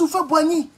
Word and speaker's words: Houphouët-Boigny: Donc souvent pour l'Ivoirien qui veut creuser, il va toujours tomber sur Houphouët-Boigny. C'est comme ça qu'on prononce son nom.